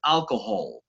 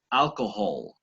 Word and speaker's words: alcohol: embargo en inglés y pronunciamos esa esa h como la j suave del español como pronuncian la jota en la costa les decía ayer no entonces esto por ejemplo alcohol en inglés deberíamos alcohol alcohol no prohibir pero